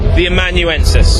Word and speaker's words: The Amanuensis: tomorrow one week tomorrow um how do you pronounce the title The amanuensis the amanuensis I was a bit confused with